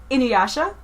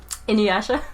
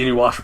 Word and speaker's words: Inuyasha: Inuyasha? Inuwasha. Inuwasha? Inuwasha. Welcome to the Inuwasha podcast, where I pronounce Inuwasha wrong for 20 minutes.